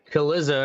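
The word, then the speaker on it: Cillizza: with the point with Chris Kaliza, or however the fuck he's pronounced his name. Looks like Godzilla, but with a C.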